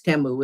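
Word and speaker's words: Temu: And I got some things from Teimu or Teu, I think, is how they pronounce it in the commercials. But now, even though I know it's Teamu, it'll always be Timu to me.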